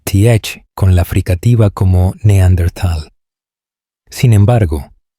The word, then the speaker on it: Neandertal: con la fricativa como Neanderthal. Sin embargo, esta última pronunciación no tiene base en la palabra alemana original, que siempre se pronuncia con una T independientemente de la ortografía.